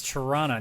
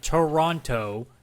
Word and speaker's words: Toronto: It's Toronto, not Toronto as a lot of people try to say.